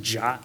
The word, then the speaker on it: JWT: The token is technically called a JWT, which is pronounced JOT for some reason. It's built of 3 pieces. The purple there is the algorithm and the type. So there's the JWT or JOT.